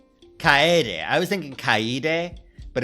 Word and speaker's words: Kaede: DRV3 Kaede. Kaede. I was thinking Kaede, but it's Kaede.